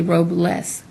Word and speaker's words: Robles: to pronounce it and you say Robles like without a robe and they're like naked